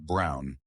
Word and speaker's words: Braun: And said the German way, it comes out Brown, exactly as you say it now.